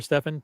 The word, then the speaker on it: Stefan: If you have questions for Stefan, by the way, you pronounce it Stefan or Stefan, by the way?